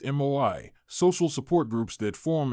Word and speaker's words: moai: This approach is embedded in Japanese culture through the concept of moai, pronounced MOI, social support groups that form in childhood and continue throughout life.